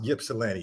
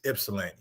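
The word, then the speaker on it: Ypsilanti: Guys, it's not pronounced Yipsellani. It's Ipsellani, right?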